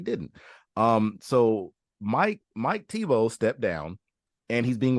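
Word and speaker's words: Thibault: former former uh Washington Mystics head coach Mike Tebow Shane I did I didn't know it was pronounced like that I honestly didn't um so Mike Mike Tebow stepped down and he's being replaced by his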